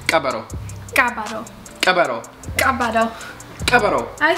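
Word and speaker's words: ቀበሮ: So like fox 10 would be cabaro 10.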